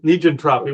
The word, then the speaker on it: negentropy: Negentropy.